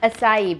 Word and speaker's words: açaí: It is actually an acai. I was calling it Acai.